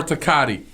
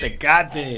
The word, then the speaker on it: Tecate: Corona or Tecate?